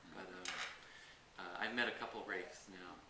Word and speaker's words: Reif: But I've met a couple Reifs now. It's like a posh pronunciation of Ralph in England.